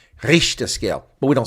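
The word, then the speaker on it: Richter: So that's impro pronounced incorrectly too by the way folks. So it's not RTOR.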